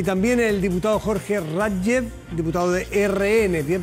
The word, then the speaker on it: Rathgeb: Y también el diputado Jorge Radjev, diputado de RN. ¿Bien pronunciado el Radjev?